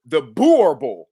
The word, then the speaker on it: Boerboel: You know, I mean, even I called my friend in South Africa about the Boerboel is how she said it's pronounced. Because she said, "Oh, y'all pronouncing it wrong."